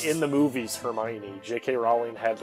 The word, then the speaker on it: Hermione: That's like when people, like, awkwardly try to say Hermione, but they don't think it's called Hermione. They go, yeah, like, Hermony. Hermonini. Hermony.